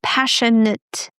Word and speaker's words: passionate: My dear Spanish speakers, not passionate. All right, no A, passionate.